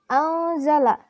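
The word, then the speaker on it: أنزل: Lafaz anzala di sini hukumnya ikhfa karena huruf nun sukun bertemu huruf zai, di mana zai merupakan salah satu huruf ikhfa. Cara membacanya samar dengan dengung dan ditahan selama 3 harokat. Pada waktu mengucapkan huruf nun mati, sikap lidah dan bibir dipersiapkan menempati huruf zai.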